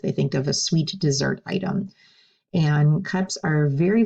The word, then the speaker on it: dessert: to a dessert now notice the S sounds like an S here they say is dessert if you pronounce that